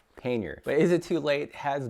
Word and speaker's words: pannier: only just learned the correct way to pronounce a word pain yer is it too late